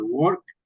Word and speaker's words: worked: Acá esa ED la pronunciamos como una T al final, worked.